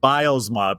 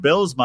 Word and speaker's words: Bylsma: when we first met I've been pronouncing your last name wrong bosma because in the hockey world that I'm kind of in it's bosma so when you pronounced it bsma I was like huh he's clearly not a hockey guy he must be a soccer guy well it my Dutch